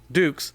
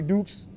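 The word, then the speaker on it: Dux: a warrior a knight have you ever heard the expression put up your dukes i was wondering is that a nickname i am a ranger my name is spelled d-u-x if it comes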